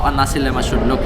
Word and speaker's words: nasi lemak: So the correct pronunciation is nasi lemak, you know. So the l is a l, it's not le, it's not li, is l. So nasi lemak. So the k is almost silent.